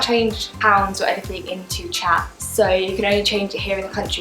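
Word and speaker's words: kyat: it was it's called chat myanmar chat i thought it was kayak because it's spelled k-y-a-t-t so i've been pronouncing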